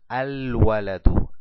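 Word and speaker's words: الولد: Vamos abajo, dice waladun más el artículo aleflam, decimos al-waladu, al-waladu. Puedo pronunciar el alef y el lam del artículo. Y al final le dejo una sola dhamma en señal de la determinación.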